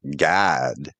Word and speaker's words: Gad: Did I remember from Gamel Dalit, pronounced God. God, but it's spelt Gad in the English.